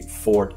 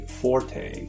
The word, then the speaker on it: forte: You'll rarely find people who say fort anymore, though. Most people say forte. If being a purist is your forte, go ahead and say fort, but don't expect other people to do so.